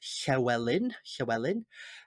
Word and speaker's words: Llywelyn: Its founder was a Welshman, and his last name was Llywelyn. And in Welsh culture, we say it's Llywelyn, and that double L makes a hy noise, hy.